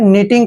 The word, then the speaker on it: know: Next word है KNOW, यहाँ पर भी एन से पहले के को हमने साइलेंट रखना है। एन को हम न पढ़ते हैं, OW को ओ का उच्चारण करेंगे।